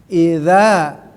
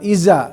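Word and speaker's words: إذا: ya tapi pengucapan secara ayat satu adalah ada dza Nah itu ada dza ya idza bukan Iza ya idza Nah Danya digigit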